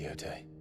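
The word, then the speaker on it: Jote: Rise, Lady Yote. You saved my brother. I owe you a debt I can never repay. I but did my duty. Also, Jay is silent.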